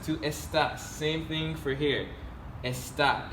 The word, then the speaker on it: estás: The tilde makes a difference in how you pronounce it. Without the tilde, this would be estas. That's a whole other word.